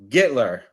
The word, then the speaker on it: Gittler: All right, Jesse Gittler.